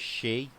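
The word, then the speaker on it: sidhe: Yeah, but the Irish term that what I've just typed is actually pronounced as she in the Irish Gaelic, apparently. And I know it looks like it's spelled Siddy, but it's actually pronounced she.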